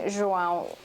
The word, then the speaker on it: João: So it's a good thing João rhymes with cidadão, or else that baby would fall apart.